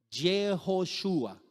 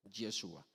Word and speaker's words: Yeshua: Entonces, antes de que los judíos fueran a Babilonia, se pronunciaba, ¿cómo? ¿Cómo se pronunciaba el nombre? Jejoshua. Después del cautiverio comenzó a pronunciarse ese nombre como Yeshua. ¿Cierto? Yeshua.